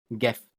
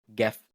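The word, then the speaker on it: gift: جنجر اللي هو الجنزبيل بس خلي بالك حرف ال جي اي مش دايما بيتنطق جا لو جه وراه اي ليه في بعض الكلمات اللي بتبقى شاذه شويه عن القاعده زي مثلا جيرل جيرل اللي هي بنت او جف جف اللي هي هديه هتقول لي طب انا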